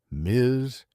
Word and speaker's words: Ms.: But now we have Miz. It is a two-letter syllable that has caused more cardiac distress in the halls of Congress than a tax hike on tobacco.